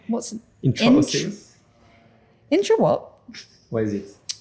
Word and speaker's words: intraosseous: Intraosseous.